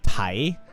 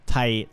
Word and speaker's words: Thai: If I say like being like super, it's like Thai and like Taiwan. Thai as in like there's like no H. I know that H is silent, but like when you say like TH and T itself is like, you know.